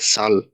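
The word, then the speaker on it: Zahl: তবে জার্মানিতে সেটের উচ্চারণটা ছয়ের মতো, বা ইংরেজি এস এর মতো, যার কারণে এটা জাল না হয়ে সাল হইতাছে। তো এই গেল আমাদের নর্মাল 26টা লেটার।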